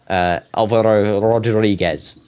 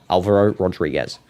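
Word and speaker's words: Álvaro Rodríguez: Alvaro Rodriguez. That's how I say his name. Alvaro Rodriguez.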